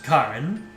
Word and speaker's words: Karin: If she's pronounced like uh Karin from Street Fighter, it's Karin.